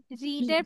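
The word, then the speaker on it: read: cartoon ঠিক আছে আরেকটা তুমি পড় তুমি গল্পের বই পড়ি তুমি গল্পের বই পড়েছিলে রিডের পাস্ট একই শব্দ কিন্তু উচ্চারণটা রেড হয় ঠিক আছে রিডের পাস্ট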